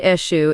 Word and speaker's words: Eshu: Pronounced Eshu is considered the trickster Orisha in Yoruba tradition.